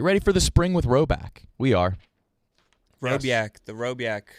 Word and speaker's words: Rhoback: Rowback performance hoodies are quite possibly the softest hoodies you can own when paired with the performance joggers.